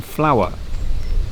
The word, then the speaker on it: flour: you can subtly change the pronunciation and take the emphasis off the W when you're talking about flour for baking.